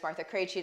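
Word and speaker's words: Martha Krejci: know who i am my name is martha creachy that's how you pronounce all of those consonants together in one place my job is to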